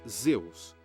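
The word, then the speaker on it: Ζεύς: Em grego, pronunciava-se Zeus.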